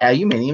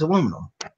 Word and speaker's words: aluminum: No, it's not aluminium. It's aluminum. It's not said phonetically.